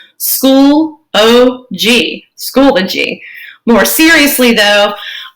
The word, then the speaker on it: Schoology: It is 3 syllables. School-O-G, Schoology.